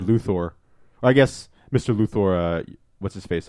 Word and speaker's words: Luthor: guy I think was the first guy to pronounce his name correctly in the Superman series he said Luthor I guess mr.